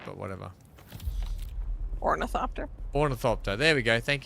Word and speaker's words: ornithopter: I was just tearing apart an orth oricopter or I don't think I'm pronouncing it right, but whatever. Ornithopter.